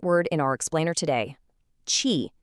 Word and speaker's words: qi: Qi, pronounced "chee".